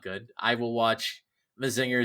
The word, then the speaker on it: Mazinger: Yeah, because it's Majin, so Mazinger.